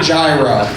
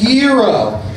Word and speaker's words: gyro: said i wanted a gyro you're like no mickey actually it's pronounced gyro you know what no